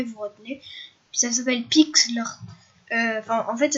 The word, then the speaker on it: Pixlr: Puis ça s'appelle Pixlr. Enfin, en fait, ça s'écrit P-I-X-L-R.